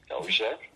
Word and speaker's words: Dozier: Well, I don't think it'd be a pronunciation on my last name, Dozier.